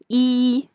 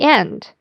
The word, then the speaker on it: 一: The first one is E sound. So when E is combined with another syllable in the first tone, the second tone, or the third tone, the E will change into the fourth tone, E.